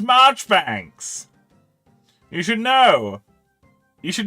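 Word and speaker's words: Marjoribanks: would have I have heard of you Mr majori Banks it's pronounced marchbanks you should know you should know me because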